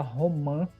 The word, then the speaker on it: romã: Então a gente fala romã, né? E esse sinal de nasalidade que confirma a pronúncia dessa palavra, tá?